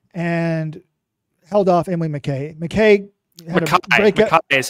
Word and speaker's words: McKay: McKay is how you say that name, just FYI.